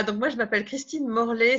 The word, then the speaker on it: Morlet: Voilà, donc moi je m'appelle Christine Morlet, ça s'écrit ET comme Chevrolet, ça me rappelle quand j'ai eu la certification aux États-Unis en 2012, ils ont dit Morlet. Alors j'ai dit c'est comme Chevrolet, et maintenant ils prononcent mon nom correctement.